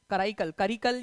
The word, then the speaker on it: कराईकल: चोलास थे उनका राजा, करिकल या कराईकल जो भी आपका प्रोनाउंसिएशन करना है आप लोग कर सकते हो, कराईकल उसका जो है करेक्ट प्रोनाउंसिएशन है।